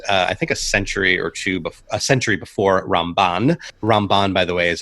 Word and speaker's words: Ramban: with Rambam, even though even the pronunciation is different. Rambam and Ramban.